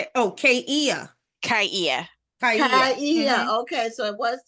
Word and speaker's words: Kaia: comes on screen, I'll ask her about the pronunciation of her first name. I'm here. It's Kia. I don't know why the video is not working. Oh. Oh. Kia.